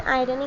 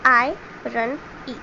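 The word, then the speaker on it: irony: अब यहाँ पे हमें आयरनी का मतलब भी दिया गया है, तो देखते हैं क्या होता है। आयरनी जैसे हम प्रोनाउंस करते हैं आई रन ई, आयरनी is when there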